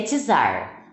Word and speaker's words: czar: o termo que usar gente pronuncia tzar tá foi para foi